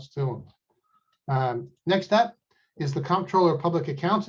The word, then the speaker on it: comptroller: next up is the comptroller of public accounts it's actually pronounced controller uh c-o-n-t-r-o-l-l-e-r why don't we just